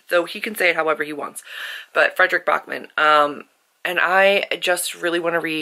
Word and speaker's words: Backman: to the audiobook, and it is pronounced Bachman, not Backman, even though it's spelled Backman, but he's Swedish, so he can say it however he wants. But Frederick Bachman.